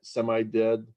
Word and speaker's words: SIMD: Is the C code optimized semi-dead? Yeah. I don't know if that's dead as delimited or SIMD is how you would pronounce that. SIMD, excuse me.